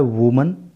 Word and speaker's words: woman: जब वर्ड होता है वुमन, स्पेलिंग होती है WOMAN, तो उसका प्रोनाउंसिएशन होता है वुमन और हिंदी अर्थ होता है एक महिला।